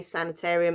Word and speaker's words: sanatorium: the sanatorium um now i actually thought i was saying it wrong because i always whenever i say i say sanitarium um but no apparently right from google information in america they say sanitarium in england we call it sanatorium and that